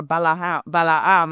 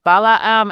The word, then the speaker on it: Balaam: And if you think about what happens in this scenario, you have Balaam, or Balaam, I think is the way to pronounce it, who is a prophet, right?